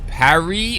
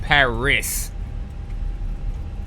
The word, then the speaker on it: Paris: bring it back so all the people that I heard saying P was wrong so it's Parry or is it Paris in pronunciation which one is it just Parry okay Parry all right I